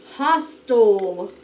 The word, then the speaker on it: hostile: the man was being hostile tell me the sound you hear get ready oh hostile all right you get that schwa sound that is an eye